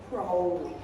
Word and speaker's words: Crowley: I used to call his name Crowley, but he wanted to ride with Holy. So he pronounced his surname as Crowley.